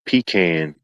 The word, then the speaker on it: pecan: big part of the mural it says it's pronounced pecan.